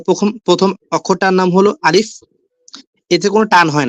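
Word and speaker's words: ألف: হবে আরবি অক্ষরগুলো কিভাবে আমরা শিখতে পারবো শুদ্ধ উচ্চারণে। তো প্রথম যে অক্ষরটা ভাই আলিফের পরে আপনার মাউসটা দেন হ্যা মাউসের ইটা প্রথমে তো প্রথম প্রথম অক্ষরটার নাম হলো আলিফ এতে কোন টান হয় না ঠিক আছে আলিফ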